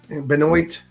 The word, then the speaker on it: Benoit: Benoit. The Benoits. I had to straighten out one redneck at the CatCon. That's not how their name's pronounced.